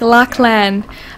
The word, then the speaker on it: Laughlin: It's an Irish name. You pronounce it kind of like Lachlan. Lucky, hard to get it right without the proper accent.